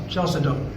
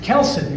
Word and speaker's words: chalcedony: There's three of these gemstones that begin with the CH as their first two letters. But in this case, it's a K sound like a cut.